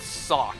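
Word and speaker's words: Sawk: anime they pronounce this sock kind of like sock you wear on your feet s-o-c-k sock foreign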